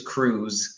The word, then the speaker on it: cruise: a very big boat and the presentation is cruise so the eye is silent which is why please call him Tom